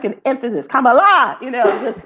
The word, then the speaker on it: Kamala: But if you just forgot, you had temporarily just lost your mind, it's Kamala, like the punctuation mark. Bakari Sellers help us out on Twitter. Kamala.